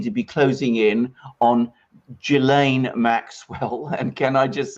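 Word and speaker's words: Ghislaine Maxwell: a soft G and there's no you don't pronounce the SA jillaine Maxwell but whether all these three things the the Dersch of its filing the interviewing of Prince Andrew the closing in on Jill a Maxwell whether these are all connected and whether something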